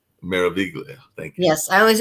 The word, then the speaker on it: Meraviglia: So It's, definitely it's, it's actually pronounced Meraviglia. Meraviglia.